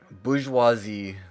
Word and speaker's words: bourgeois: Bourgeoisie glasses. Bourgeois? Bourgeois? It's not bourgeoisie.